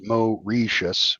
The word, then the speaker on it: Mauritius: Um he said that the British base he said it's pronounced Mo Reius.